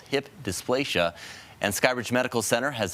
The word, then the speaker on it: hip dysplasia: And what is hip dysplasia? You are saying it right. It is hip dysplasia.